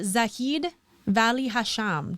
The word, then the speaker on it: Zaheed Valli-Hasham: guest and friend on our podcast today mr zaheed valli hasham did i pronounce it right i know i've known you